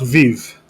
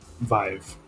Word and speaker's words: Viv3: plus the lead so he's five five not viv yeah not v5 here okay primes rhymes with five rhymes with five vive okay i love it